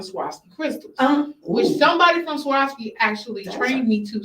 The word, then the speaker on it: Swarovski: i found a swastika crystals which somebody from swarovski actually trained me to say it correctly because i was saying swipes right like no that's not it's like swear yeah